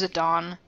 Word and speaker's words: Zidane: Don makes little comments I know it's Zidane because I played Dissidia and they pronounced it as it Don but it still [